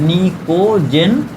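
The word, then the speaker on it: pnictogen: याद रखना है आपको, पी साइलेंट होता है, निकोजन।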